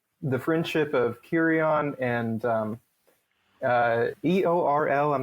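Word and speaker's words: Éorl: It's they're not separate, but it's like they run together. Eorl, Eowyn, Eowyn and Theoden. That EO sound. Theoden, Eowyn. Yeah. So it's Eorl. Yeah. But because there's an accent on the E in both of those, I always kind of try to treat that as a separate syllable a little bit more.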